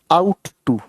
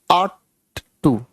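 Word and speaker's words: ought to: कैसे पढ़ते हैं, इसकी जो करेक्ट प्रोनाउंसिएशन है वो है आट टू, ठीक है जी। ये इसकी करेक्ट प्रोनाउंसिएशन है। कुछ लोग इसे बोलते वक्त इसको ऐसे बोलते हैं आउट टू, ये आवाज गलत है, ठीक है, ये आवाज बिल्कुल गलत है, ठीक है जी।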